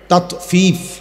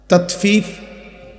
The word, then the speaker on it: তাতফিফ: তাতফিফ বাংলা শব্দটা বুঝছেন উচ্চারণটা ত আকার তা তত ফ দীর্ঘিকার ফি ফিফ এই তাত ফিফ এই হলো শব্দটা অর্থ